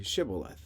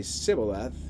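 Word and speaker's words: Shibboleth: It would tell him to say Shibth. If he was from Ephraim, he would say Cibil because the people from Ephraim cannot pronounce the word correctly.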